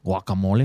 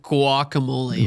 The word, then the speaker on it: guacamole: Fredel says, "Aren't about to go off on YTT for pronouncing the G Spanish style?" The G. What did I say? Uh, did you say guacamole? I said guacamole.